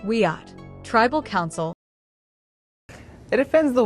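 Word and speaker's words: Wiyot: a representative of the Wiiat, pronounced WEAT, tribal council.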